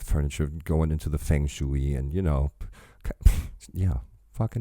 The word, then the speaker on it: feng shui: I said feng shui, which is how we pronounce it, and he says feng shui. I guess it's the way the American would pronounce it, but yes, that's what it is.